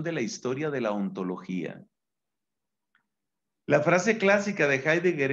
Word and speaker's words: ontología: ente entonces hemos hecho ente logía que no se dice a sí sí nos dice ontología hemos dicho ontología pero